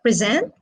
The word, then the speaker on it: present: example if we say present present so present is a verb present is a noun so present is stressed on the second syllable while present as a gift is stressed on the first syllable like example record record